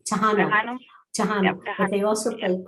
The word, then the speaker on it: Tejano: How is it pronounced? Tejano.